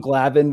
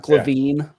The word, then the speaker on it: Glavine: Tom Glavin was there, not Glavine.